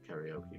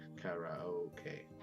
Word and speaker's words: karaoke: They mentioned sushi, sensei, and then karaoke, which I think this is karaoke.